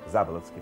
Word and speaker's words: Заболоцкий: Он родился под Казанью, где его отец Алексей Агафонович Заболоцкий, не Ц, а Т, а вообще правильно произносилось Заболоцкий, фамилия была родовая, работал агрономом, сам он был из крестьян.